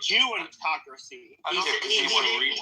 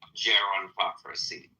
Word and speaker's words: gerontocracy: I believe he said Jeantocracy. sounded like I think he I think he I think he English may be his second language and he he most certainly he most pronounc certainly pronounced Jew autotocracy as if it were government by Jews but in fact I do believe he tried to say gerontoracy obviously you know